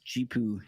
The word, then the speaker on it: Zhipu: I'm pretty sure you pronounce this GPU AI is the name of the company.